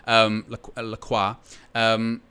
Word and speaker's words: Lacroix: Thank you, Ridwan, for the pronunciation. Lacroix.